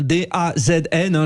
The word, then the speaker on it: DAZN: Bon, c'est comme ça qu'on prononce, D-A-Z-N.